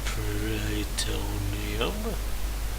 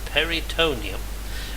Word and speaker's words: peritoneum: was suffering from rupture of the pretonium sorry jacob's mount carter pronounced it peritoneum which had been perforated